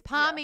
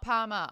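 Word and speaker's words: parmy: It's palmy, yeah. Not palmer. I know Tej is Queensland. You're Queenslander. I'm a Queenslander. Great. Mm-hmm. It's palmy and it's not palmer.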